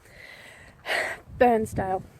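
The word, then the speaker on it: Bairnsdale: So I am almost in Sale, which is the town west of Burnsdale, which is the place that's on fire at the moment. Burnsdale. Yes, that's how you pronounce it.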